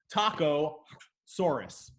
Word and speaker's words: Psittacosaurus: like Vic you're not correct right but it's pronounced silent si taco Soros it's got these weird cool frills are like